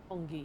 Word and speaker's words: Roppongi: Roppongi, yeah.